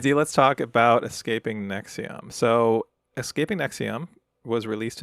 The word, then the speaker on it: NXIVM: It's called Nexium. That's spelled Nxivm.